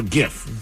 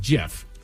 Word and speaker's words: GIF: I invented it to say something like GIF. Uh, think of the peanut butter brand if it helps.